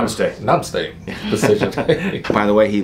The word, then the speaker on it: Namaste: Namaste no mistakes anyways it's supposed to be Namaste but he doesn't know how to say it so he goes no mistakes I think it's hilarious